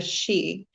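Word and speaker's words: sí: one just particularly fae it is known as the she now that she is spelled differently when you're looking at the extraterrestrial race but in ancient ireland it was spelt s.i so the xi have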